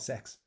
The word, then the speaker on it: CeX: a place uh ironically it's called sex uh they spell it CeX but they're they in their ads and stuff they call themselves sex um so you can